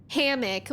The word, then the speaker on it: hammock: mac right right like I say hammock with the stress on the first syllable but maybe you say